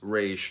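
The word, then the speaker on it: ריש: Resh pronounced Resh, transcribed as the number 200, meaning face, the collective intelligence.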